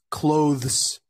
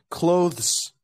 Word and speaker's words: clothes: say this word correctly the correct way to say this word is clothes so it goes from I apologies it goes from Khloe to the to S seamlessly so it goes clothes just this there's no